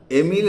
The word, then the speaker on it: Emile: আজকে আমাদের আলোচ্য বিষয় এমিল অর অন এডুকেশন।